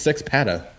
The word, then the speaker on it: Sex Panda: There's no N. It's just Sex Panda.